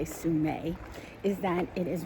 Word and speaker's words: Sumeg: So, the other cool thing about this Sue-meg State Park, which is spelled Sumeg, but the native people say Sumay, is that it is right along the ocean.